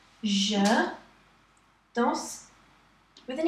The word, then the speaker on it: danse: Il, elle danse. You don't really have a sound at the end. You just say danse.